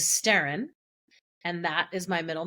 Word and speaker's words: Sterrin: Sterrim, SBTERRIM, is the Gaelic word for storm, and the Western pronunciation of Sterrim is Sterrin, and that is my middle name.